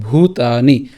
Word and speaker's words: ভূতানি: এখানে কিন্তু রসুকার নাই রসকার থাকলে ভু উচ্চারণ করতাম কিন্তু এখানে দীর্ঘকার আছে এজন্য চাপটা বেশি দিতে হবে ভুতানি ঠিক আছে নিগ্রহ নিগ্রহ